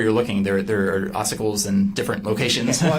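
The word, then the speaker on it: ossicles: The um and I'm I guarantee I'm going to pronounce some medical words wrong, but oicles. Oicles.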